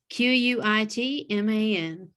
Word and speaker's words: Quitman: Quitman. Like quit, man.